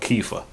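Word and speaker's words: Kefa: that I'm using right right now is called keifa that's how you pronounce that and that's all I got that's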